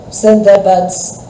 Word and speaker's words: Sundarban: This is of Sundarbans, pronounced Sundarban in Bengali, addressing you from Calcutta in India, where it is already past 2:30 a.m.